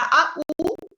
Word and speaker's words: au: Je joue O, la AU, siempre se pronuncia O, que es como al fútbol.